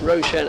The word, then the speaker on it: Roshan: So, I asked how he pronounced the first syllable, and we went through a sort of mime of trying to convey a boat by rowing action. It's Roshan Alarm.